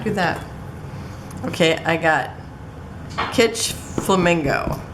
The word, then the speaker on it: Kitsch: Okay, I got Kitsch Flamingo. Guess that's how you pronounce it. It's like kitschy.